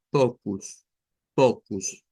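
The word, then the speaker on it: poucos: Vamos a la siguiente y ya podremos ir pensando, mire, eso como que va a sonar como pocus, ya teniendo en cuenta eso de la U del final.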